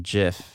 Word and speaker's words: GIF: called spinner dot gif you pronounce that just not gift just remember that the inventor of it set that you pronounce it just alright so next we're